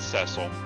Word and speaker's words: Cecil: Captain Cecil, we're about to arrive. Good. And apparently in the DS remake, they pronounced it Cecil.